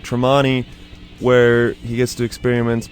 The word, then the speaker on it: Tremonti: Outside of Van Halen, though, Wolfgang, I didn't know this before this, but he plays in Mark Tremonti's side band, pronounced Tremonti, and it's actually more of a metal band,